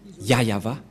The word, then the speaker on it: YAHVAH: et donc c'est bien la vraie prononciation de son non yayava voilà le ya et